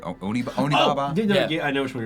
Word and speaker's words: Onibaba: up the pronunciation, but not Obi Baba, but Onibaba.